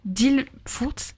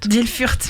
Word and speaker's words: Ilfurt: Les Possédés d'Ilfurt. Non. D'Ilfurt, merci.